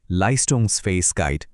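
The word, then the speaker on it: Leistungsfähigkeit: এই টেক্সট থেকে আমরা আরও একটা দারুণ শব্দ শিখব, লাইস্টোংস ফেইস গাইড। ফোনেটিক্যালি এর উচ্চারণটা হল লাইস্টোংস ফাইস গাইড।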